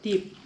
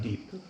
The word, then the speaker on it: dip: I like that they have different type of dip. Dip. Dip, Dip. not deep.